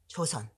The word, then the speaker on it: Joseon: But in the Korean pronunciation, it's not really K, but it's not really J either. Right? Joseon. Mm-hmm. It's not Cho, but it's not Jo either. Mm. It's in between.